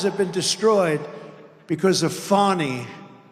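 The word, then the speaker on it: Fani: been destroyed because of fonny f a n i fny you have to pronounce it fonny it's called Fanny you have to pronounce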